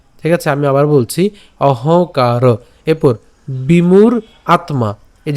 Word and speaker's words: অহংকার: এরপর অহংকার, অহংকার, কেন এই যে আমরা এখানে যে যুক্ত